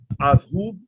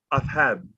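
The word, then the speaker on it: ذهب: can be, a dal, the dal letter in Arabic can be pronounced in between a Z and a TH. So you can say azhub or azhub. We lean more towards the Z, but in Arabic we say athab, athab, athab, athab ilah hasu, right?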